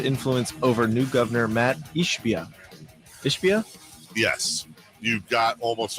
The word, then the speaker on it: Ishbia: He just doesn't spell it right. I completely agree with you. It should. What? What is it? It's Ishbia.